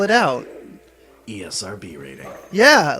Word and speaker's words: ESRB: It's not a word, it's an acronym. I've never heard that pronounced that way, ever. It's even on TV commercials. They spell it out. ESRB rating.